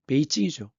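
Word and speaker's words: 北京: 그래서 북경, 중국 발음은 베이징이죠. 이쪽으로 천도, 도읍을, 수도를 옮겨요.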